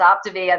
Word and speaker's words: Optavia: So if some of us I needed a lesson on even how to pronounce it, but that's what it is. It's Optavia, the optimal way.